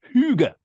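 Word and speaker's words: hygge: language spelled h y g g e but pronounced Huga Huga yeah which is a wonderful word of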